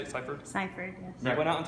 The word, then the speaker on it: Sipherd: Sipherd, yes.